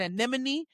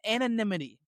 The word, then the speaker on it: anonymity: I kept saying anemone. No it's anonymity.